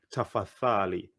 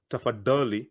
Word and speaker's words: tafadhali: The DH, the letters DH is the same as the TH, which is a th. So I don't want to hear tafadali.